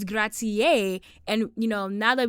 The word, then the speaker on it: grazie: know, buongiorno, buonasera, um grazie. So we first came in saying grazi. I feel like that's a very common funny joke that everyone says but it's grazie and you know, now